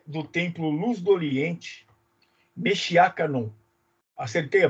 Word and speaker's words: Meshiya: casado ele é do templo luz do oriente mexia Canon acertei a pronúncia certinho perfeito é o Marcos é ministro